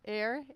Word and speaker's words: Aire: How do you pronounce it? Aire, AIRE Supply.